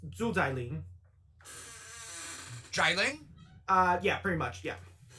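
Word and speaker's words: Xu Xialing: Yeah, so including her last name, which is also Sean's, it's Zhu Zailing.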